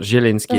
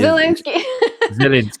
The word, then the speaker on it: Zielinski: I said it wrong. It's not Zielinski. Zielinski. Zielinski.